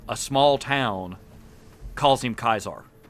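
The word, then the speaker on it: Caesar: alone that they implemented it to have people pronounce kaisar differently oh true to kais and that being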